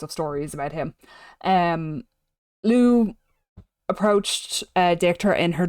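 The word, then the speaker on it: Lugh: as the god l and when I say Lou I mean it's pronounced like this Lou is of the tuanan so he's of the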